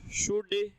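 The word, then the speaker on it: should: हाँ शाबाश, तो विल का पास्ट वुड, शैल का पास्ट शुड, कैन का पास्ट कुड, कुल्ड नहीं होता, वुल्ड नहीं होता, शुड नहीं होता है, एल साइलेंट है।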